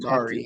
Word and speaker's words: Bakhtiari: How you say his name? David David Bakatari. Bakhtiari.